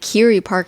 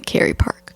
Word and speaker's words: Kerry Park: Park I don't know you said Kyrie Park early today and I was like you mean Kerry Park right it's definitely Kerry Park okay I don't know why I always spelled like Carrie like the name Carrie yeah I don't know